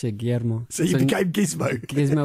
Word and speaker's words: Guillermo: And it's a childhood nickname that I've had because most of the people couldn't pronounce it Guillermo.